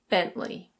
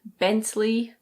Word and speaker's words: Bentley: This one is a British brand and it's pronounced Bentley. Bentley. Some people pronounce the T very clearly, so they say BenTley, but most people say Bentley. Bentley.